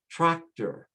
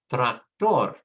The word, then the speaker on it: tractor: We say motor, tractor, doctor. However, in Spanish, because it ends with a consonant, we have to put the stress on the last syllable. So you say motor, tractor, doctor, color, actor, favor.